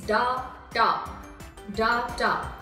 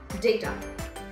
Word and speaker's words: data: data data so what exactly is the common pronunciation which we have been using in our day to day life for data is da da it's not data it's day type data so for more of such videos stay tuned